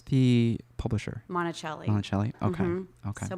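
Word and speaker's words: Monacelli: And how do you pronounce the publisher? Monticelli.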